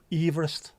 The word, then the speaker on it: Everest: British Empire named Chamalonga didn't pronounce his last name the way we all do now. Now George Everest. Yes. Did you just know that it is Everest? So, it should be Mount Everest, but it's not.